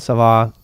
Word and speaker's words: Kava: I call it Sava. but it's spelled like kava.